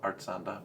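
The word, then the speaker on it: Artxanda: don't have that right I think it's art Xander art art Xander it's not Xander it's art Xander we'll stick the name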